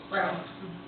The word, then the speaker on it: Braun: And Braun, I'm saying it right, Brown.